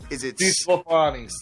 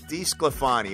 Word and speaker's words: DeSclafani: Cincinnati, how do you pronounce this guy's name? It's Anthony DeSclafani. DeSclafani, okay. DeSclafani, my Italian wife would yell at me if I didn't get that right.